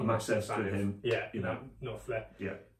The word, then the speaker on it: Knopfler: Knopfler. Yeah. There's another funny one to say with the silent K and N and Knopfler, all that.